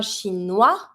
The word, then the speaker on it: chinois: Un chinois. S, chinois. You see, it's not an R. I'm not going to pronounce it.